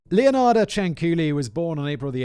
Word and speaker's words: Ciancuilli: But now I know her name is Ciancuilli, which is kind of a cool name. Leonarda Ciancuilli was born on April the 18th, 1893.